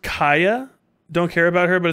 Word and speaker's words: Chaya: sort of break off um recently uhhuh it's pronounced Kaa don't care about her but it's a fairly